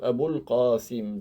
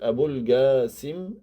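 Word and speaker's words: أبو القاسم: messager de Dieu et les Arabes ils peuvent prononcer le en n'arrive pas à dire abqim avec le il peut dire AB gasim donc il peut dire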